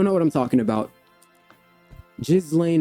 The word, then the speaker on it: Ghislaine: If you don't know what I'm talking about, Jizlane Maxwell or Gilain Maxwell, that's the pronunciation of it, is seeking a pardon from Donald Trump.